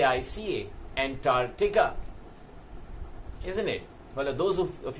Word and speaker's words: Antarctica: of the world is a NT a r c TI CA it is also pronounced that way by the weight is not Antarctica it is Antarctica that's the seventh continent